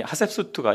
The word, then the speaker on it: 하셉수트: 그런데 여기 하셉수트라고 돼 있고, 제가 만든 강의 안에 하셉숫이라고 돼 있는데 뭐 짧게 발음은 숫이고 길게 발음은 수트입니다. 이 하셉수트가 이 여자가 아주 중요한 여자입니다.